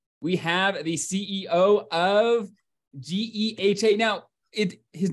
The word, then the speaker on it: GEHA: So it's GEHA. GEHA is the way we say it.